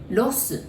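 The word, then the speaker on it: ロス: So instead of saying LA, in Japanese, we say Los. So it's pronounced it like loss. It's like your loss, my loss, the same pronunciation like loss, okay?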